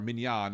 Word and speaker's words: minyan: they were like, well, if we can't have a minyan, or a minyan, as we pronounce properly in Hebrew, a minyan would be